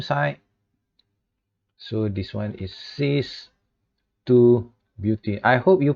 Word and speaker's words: cis: so this one is c is two beauty i hope you pronounce this correctly and this one is not cheese it is cis cheese is different thing